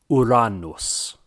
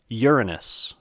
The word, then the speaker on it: Uranus: planet by its name I like to stick with the classical Latin version and pronounce it Iran knows some people like to call it Uranus or popularly among many people is Uranus but if we're artistic with the classical Latin then we should say oh Allah knows I